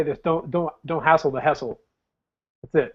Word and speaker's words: Hessel: Hessel. Please tell me I pronounced the last name right.